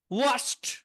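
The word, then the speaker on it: washed: needed needed প্রয়োজন হওয়া ওয়াশ ওয়াস্ট ওয়াস্ট ধৌত করা ডিগুলো টির মত উচ্চারণ হবে ওয়াশ ওয়াচ ওয়াচ ধৌত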